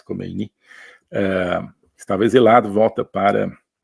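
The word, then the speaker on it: Khomeini: bloco comunista eh o ayatolá comein ou kini parece que a pronúncia persa é mais kini eh estava exilado volta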